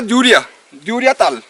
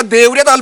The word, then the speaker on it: Deoriatal: इसका नाम क्या है, तो यहाँ के लोकल्स ने कहा द्यूरिया ताल। तो जो DEROI ये लिखा हुआ है ये द्यूरिया ही लिखा हुआ है। अगर देवरिया ताल बोलूंगा तो देवरिया ताल की स्पेलिंग होती है DEUR, इस तरीके से आगे जाती है, लेकिन इस तरीके से नहीं है, वो द्यूरिया में है।